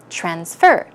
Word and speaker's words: transfer: need to transfer money in that case it's a verb so stress the second syllable transfer transfer I have to